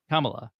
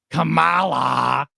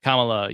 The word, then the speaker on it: Kamala: apparently the right pronunciation is it supposed to be like Kama like you know like a comma in a sentence K LA but Trump will go Cala um so such a